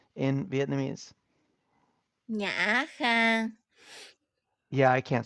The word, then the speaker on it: Khang: Yeah, like my name like it's pronounced similarly like to the word can and then you add the sound at the beginning and like it will become a name.